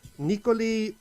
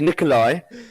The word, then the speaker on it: Nicoli: and get your name right nick first time nikoli unt how is that for pronunciation honestly not great it's nick so it's nikolai and as well and okay well i i